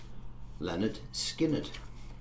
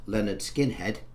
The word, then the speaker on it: Lynyrd Skynyrd: a wonderful band called Leonard skinnard I think that's how you pronounce it not Leonard skinhead as one of my friends thought it was called in our school days Leonard skined brilliant track